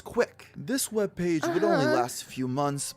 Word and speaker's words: CWC: of due to its ability to be pronounced as quick this webpage would only